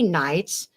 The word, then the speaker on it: Knights: into Knights the K Knights the K is silent they were all Canaanites